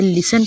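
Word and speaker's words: listen: इनमें जितने भी वर्ड्स में टी आया है वो साइलेंट है, हम इसे टी प्रोनाउंस नहीं करेंगे। लिसन पढ़ेंगे, ओपन पढ़ेंगे, मैच पढ़ेंगे एंड स्नैच पढ़ेंगे।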